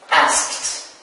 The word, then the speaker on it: asked: Well, the answer is asked. Great. So, as you see here, we have three different forms of pronunciation of the final ed. We have t, like here this verb asked, d, like in this